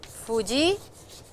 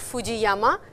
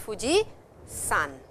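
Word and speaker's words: 富士山: Mount Fuji is Fuji-san. It's not Fuji-yama, it is Fuji-san. Please remember that.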